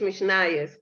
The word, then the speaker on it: Mishnayos: In Yiddish, it's Mishnayos, the Mishnah.